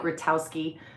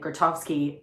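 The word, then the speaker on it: Grotowski: It looks like Grattowski. Um but all of the people that knew him were pronouncing it Gratovski.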